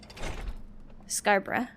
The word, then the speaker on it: Scarborough: So I was pronouncing way too many syllables. Scarborough.